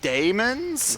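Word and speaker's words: dæmon: I was like, oh, so they're they're pronounced like daemons. Because it's the DA.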